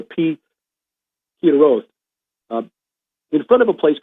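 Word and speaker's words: Pi-hahiroth: It's Pi Hiroth. Looks like Pi Haharoth, which is the way I've been saying it, but I guess in Hebrew it's a Pi Hiroth, in front of a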